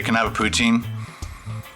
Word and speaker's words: poutine: can have a poutine you can even say ptin and uh they'll give it to you so it's not like who cares if you say it wrong really but the French Canadians are very proud of their psin and they like to correct anybody and everybody on how to say it which is fine I